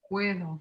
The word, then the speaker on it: puedo: Puedo. Puedo. Puedo. Puedo. Puedo. Puedo. And it'll sound like a TH, puedo, okay?